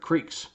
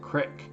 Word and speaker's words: creek: like to pronounce it crick and i get in this argument all the time with my wife is it creek is it crick and it's spelled c-r-e-e-k and to me that's pronounced crick but she says it's